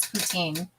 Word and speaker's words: poutine: say it yes yeah so we say poutine everybody in BC says poutine um so that's the right way to say it then Darren said older